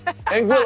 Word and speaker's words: Anguilla: Anguilla. I did a lot of research on how to pronounce that.